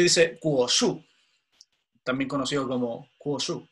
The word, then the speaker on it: Guoshu: Seguimos, entonces dice Kuoshu, también conocido como Kuoshu, como con K, ¿ya? La G se pronuncia como K en chino, ¿ya?